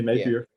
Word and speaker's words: Napier: That's how you pronounce his last name. Napier, yeah, Yeah. Napier.